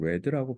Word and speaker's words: read: 자, 그래서 he 이거는 read가 아니고 read라고 발음을 해야지. s가 없잖아. 현재가 아니라는 걸 거기서 파악을 하는 거야.